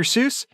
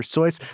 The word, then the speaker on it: Seuss: wrote green eggs and ham you mean dr seuss i'm sorry it's actually pronounced dr soyuz like no one wants to be that guy